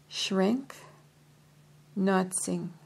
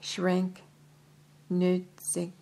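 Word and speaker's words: Schrenck-Notzing: Baron Schrenk Notzing, let me spell that, S-C-H-R-E-N-C-K, N-O-T-Z-I-N-G, two dots over the I, over the O, sorry. So, Baron Schrenk Nutzing recorded a case in which a young man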